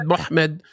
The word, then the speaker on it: Muhammad: consonants yeah m hmd how do you pronounce mhmd in English uh uh well you'd say Muhammed and what that's what we would say it's a slightly different in Arabic yeah mmed muhmed which is a very diff